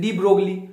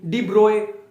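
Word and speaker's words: de Broglie: देखो इसमें ना, इसके ना बहुत सारी प्रोनाउंसिएशन होती है, डी ब्रोगली, डी ब्रोए, बहुत सारी, जो तुम्हें यूज हो वो ले लो, ठीक है।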